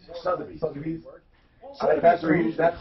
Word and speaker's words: Sotheby's: Selfies? Sotheby's.